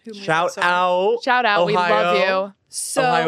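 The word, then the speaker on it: おはよう: out shout out love Ohio is how you say hello in Japanese so I didn't just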